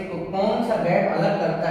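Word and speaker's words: Tsangpo: हिमालय पर्वत से कौन सा गैप अलग करता है, तो ITCZ। ठीक, इसका फुल फॉर्म होता है इंडो सांगपो, टी से स्टार्ट होता है, टी साइलेंट रहता है, Indo सांगपो suture zone, Indo सांगपो suture zone.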